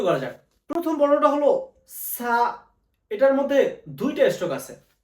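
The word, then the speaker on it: す: একটা stroke, so.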